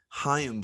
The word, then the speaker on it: Chaim: And their GM is a younger guy, and it showed here, and his name is Chaim Bloom. I looked up, that's how you pronounce it.